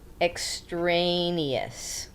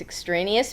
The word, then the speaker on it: extraneous: it's not acceptable is the word exous and I have to say it that way so I spell it properly so it's extraneous mean it's you did